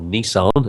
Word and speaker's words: Nissan: in the SSR Motorsports Nissan or Nissan as it's correctly pronounced apparently tww Greco in the